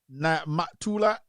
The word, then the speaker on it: Mutulu: public ninety-nine good evening Kevin pronounced my name Mutulu and let me see